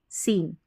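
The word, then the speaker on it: scene: एस सी के बाद ई है तो सीन पढ़ेंगे। क्या पढ़ेंगे? सीन।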